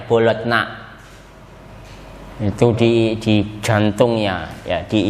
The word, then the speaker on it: Bologna: Tulisannya Bologna, bacanya Bologna.